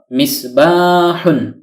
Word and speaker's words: مِصْبَاحٌ: আকার বলতে কিছু নেই হা যোগ দম্মাতুন সমান সমান হু কেননা বাংলায় দম্মাতুন সাধারণত রস উকারের উচ্চারণ দিয়ে থাকে নুন সাকিন হলো অর্থাৎ হলন্ত বা হসন্ত যুক্ত দন্তন্য বর্ণ এই হল মিসবাহুন যদিও নুন সাকিন কে